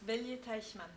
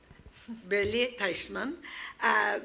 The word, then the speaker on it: Bellier-Teichmann: Bellier, you have to help me with the French pronunciation. Yes, Bellier-Teichmann. Bellier-Teichmann.